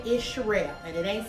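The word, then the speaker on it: Cheral: with now I know you going to say that's crazy my real name is for those of you that hear for the very first time everybody calls me my government name is Shel and it ain't spelled with no s it's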